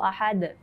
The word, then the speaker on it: Ahad: Kalau ini, kalau dipantulkan berarti Qul huwallahu ahad. Ahad. Nah, seperti itu. Ahad, jadi lepas, di pantulnya itu lepas, kecuali dia ada tasydid baru ditahan.